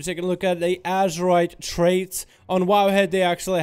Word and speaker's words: Azerite: Quick editor's note, I am reading it as Azerite with a Z. For some reason I've been pronouncing for the whole duration of the video up until now as Azerite. I wasn't thinking of it as Azeroth, Azerite. I was thinking more like Azeroth, Azara, Azerite.